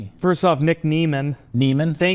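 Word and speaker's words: Niemann: First off, Nick Neman. Neman, thank you to Hall of Fame tight end Antonio Gates for that pronunciation because I went back and watched him getting drafted in 2021.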